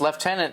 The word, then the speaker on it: lieutenant: That's weird because lieutenant, that is, as far as I understand it, that's a British pronunciation for lieutenant, how we say it. Which, you know, left, there's no F in there anywhere. Can somebody explain that to me? How does L-I-E-U become left? Somebody explain that to me,